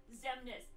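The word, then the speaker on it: Xemnas: Half the Organization 13 members start with an X and are pronounced Z. Yeah. Zemnis, Zaldin, Zigbar.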